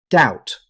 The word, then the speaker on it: doubt: Doubt. Here's another word with a silent B. Instead of pronouncing every letter, native speakers say doubt.